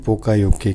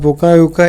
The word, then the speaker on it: Poka-yoke: खोज किया था इन्होंने पोकायोके की। ठीक है, मिस्टेक प्रूफिंग और पोकायोका इट is Japanese equivalent पोकायोके। Pronounce आपको कैसे? पोकायोके। ऑलवेज आपको बोलने में ऐसे बोलना है, पोकायोके।